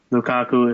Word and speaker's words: Lukaku: Everton, obviously, they definitely have a big guy in Lukaku, if I'm pronouncing that right.